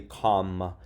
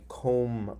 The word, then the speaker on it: comb: be and comme lam now this looks like a closed syllable right it's a vowel followed by a consonant but it doesn't follow the rules because we don't say come I come up my hair nope it's I comb my hair so it's almost